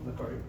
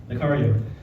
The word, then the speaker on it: Nacario: Did I pronounce that properly? Oh, Nacario. Nacario.